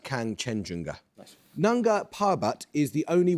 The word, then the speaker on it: Kangchenjunga: Kanchenjunga. I don't know how to pronounce it. Kanchenjunga. Yes, I'll accept that. It's pronounced Kangchenjunga.